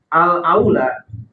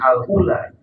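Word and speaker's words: الأولى: untuk menjadi imam siapa alaula Bacanya jangan keliru jangan Alula Karena beda beda harakat beda makna kalau Alula itu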